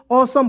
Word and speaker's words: awesome: AWE से क्या होता है, ऑसम होता है। क्या होता है, औ होता है। AWE से इसका उच्चारण औ हो जाएगा, और SOME इसको बताए थे हम, सम पढ़ते हैं।